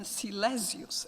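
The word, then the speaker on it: Silesius: such figures as Angelus silasius I I don't want to pronounce it in English so once again silasius a religious German poet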